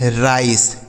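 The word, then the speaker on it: rice: आर आई सी ई राइस। क्या पढ़ा जाएगा? राइस। ठीक है? तो यहां पर ई का उच्चारण नहीं होगा।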